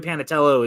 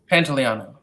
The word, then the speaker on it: Pantoliano: Joey pants yeah Joey panatela is one of my favorite I totally butchered his name by the way because it's very Pantoliano thank you yeah but